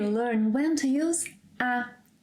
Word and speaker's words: há: First of all, it is ‘há’, with a silent ‘h’. Don’t say ‘Rá’.